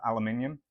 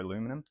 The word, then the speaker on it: aluminium: I think it's made out of aluminium or aluminum, as the Americans say.